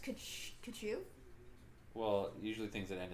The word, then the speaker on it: Tkachuk: Yeah, it's Tkachuk is spelled exactly like it sounds, except with a T at the start. Yeah. And just a K at the end. It's pronounced Kachu.